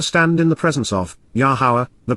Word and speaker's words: Yahowah: he took a stand in the presence of yahwah the pronunciation of yahwah as Guided by his Torah